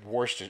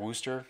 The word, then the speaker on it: Worcester: It's spelled Monmouth, but it's pronounced Monmouth. Monmouth. Yes. So it's like Worcester. It's like Worcester. It's about like, yeah, Worcester sauce. Like, yeah. Worcester, yeah.